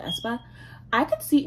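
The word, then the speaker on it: aespa: velvet or um espa thinks i'm pronouncing not ace but espa i could see not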